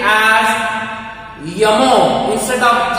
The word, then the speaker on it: Jomo: They use the pronunciation Y for the alphabet J in some cases.